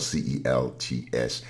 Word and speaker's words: Celts: Celts, now it is spelled C-E-L-T-S, and here in America we pronounce that as Celts, but actually it is a hard C sound in terms of its original pronunciation.